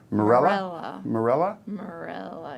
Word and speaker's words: Mirela: Sara put down first Mir ela and I are pronounced as Marilla yeah okay so Marella and we'll come up